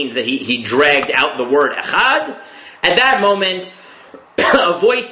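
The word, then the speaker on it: אֶחָד: it, Yemenites and Moroccans, the dalet without the dot in the middle, without the dagesh, is not pronounced as a D, it's pronounced more as a the, like a TH sound, in which case you can drag it out, right?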